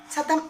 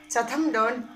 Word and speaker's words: Chatham: Name of that island is Chatham Island. Look at the spelling: Chatham. Chatham Island. Island deeper. Chatham, not Chatham. Chatham Island. Okay. Then pronounce it Chatham.